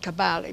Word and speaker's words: Kabarli: They read it Kabarli, but really the pronunciation is Kabarli, and it means grandmother, because they say I'm like a grandmother.